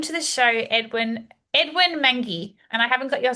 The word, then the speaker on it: Mwangi: My name is Edwin Mangi.